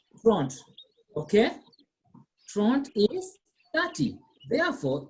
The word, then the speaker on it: trente: Not Trent, not Trente, it is Trente.